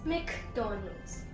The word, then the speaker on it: McDonald's: The pronunciation for this word is McDonald's. McDonald's. Not McDonald's, it's McDonald's. The MC actually stands for Mac, but the correct pronunciation is McDonald's. And guys, I'd also like to mention that McDonald's is from USA, so we generally go with the American pronunciation, McDonald's.